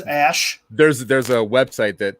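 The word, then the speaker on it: Æ: okay and then um oh it's ash that's how you say it oh okay oh well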